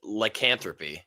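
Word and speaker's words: lycanthropy: heard you've never heard I mean it's it's pronounced lyanthropy oh that sounds you know that sounded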